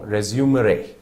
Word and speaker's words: resumere: If I'm not wrong, resumere, R-E-S-U-M-E-R-E, resumere, within which your R-E basically refers to back, and sumere is taking.